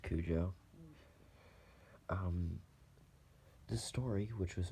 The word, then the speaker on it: Cujo: clues oh I'm just kidding I know it's pronounced Cujo um this story which was made by Stephen